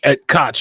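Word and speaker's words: Ed Koch: Uh, that's, uh, and and, uh, apparently, I guess Ed Cotch, Ed Cotch, is how you pronounce his name? Yeah, right. Ed Cotch. Ed Cotch.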